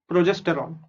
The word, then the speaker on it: progesterone: Okay, so PRO is pro, GES is Jess, TER is ter, need ter, and ONE is on.